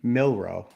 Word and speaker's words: Milroe: Milroe.